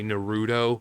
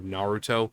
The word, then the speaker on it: Naruto: It's kind of like people who watch anime and still say Naruto instead of Naruto.